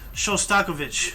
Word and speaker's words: Shostakovich: guy so often I now know how to pronounce his name yeah that's really something like yeah showstokovic I've seen him a number of times so